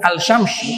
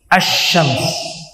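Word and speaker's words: الشمس: Al bukan alyamsy bukan asyams.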